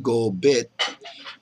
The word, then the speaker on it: Kopit: the water folks and gulit by the way pronounced gobit means beaver in mkma for the kids or